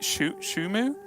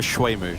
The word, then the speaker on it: Shuemu: It is going to be, is it Shumu versus Devilmat? I'm sure you'll be able to tell me a little bit better how to pronounce the other player's name. Oh, Shuemu. Yeah. Shuemu, sorry. Yeah, versus Devilmat.